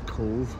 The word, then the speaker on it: Cobh: So this is Cobh, but it's spelled C-O-B-H.